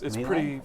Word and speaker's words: melee: In melee. It's Melee? pretty hard. You said it right, melee.